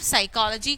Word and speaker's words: psychology: So here P and here Wednesdays. So of course here D is silent.